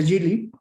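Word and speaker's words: Gilly: libro de Adolfo gilli se escribe con g W IL I creo como Guille se pronuncia gilli él su libro se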